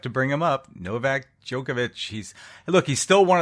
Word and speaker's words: Djokovic: guy's name Novak Djokovic Djokovic the D is silent a joke okay so